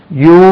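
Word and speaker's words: ewe: பெண் ஆடுக்கு என்ன சார் பெண் ஆடுக்கு யூ என்று உச்சரிக்கணும் ரைட் இட இப்படி ஒரு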